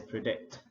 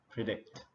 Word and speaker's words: predict: enough for 100 people the next word is predict predict so the stress is on the second syllable trumpet prediction please subscribe